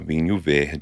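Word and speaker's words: vinho verde: And it is a vinu veh which is a a Portuguese wine. Literally I was going to say you just pronounced that very Portuguesely.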